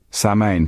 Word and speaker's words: Samhain: Samhain, pronounced Samhain, marked the end of the harvest season and the beginning of winter, a time of year often associated with death.